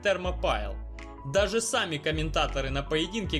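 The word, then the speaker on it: Thermopylae: фермопильское они термо песка но название придумывал не я а читается она именно как термо пайл даже сами комментаторы на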